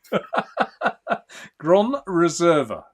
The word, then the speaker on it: Gran Reserva: Gran Reserva. Is that right? Yeah. Precise. Perfect. Yeah. Oh, precise. There you go. The only thing is you pronounce the R the English way.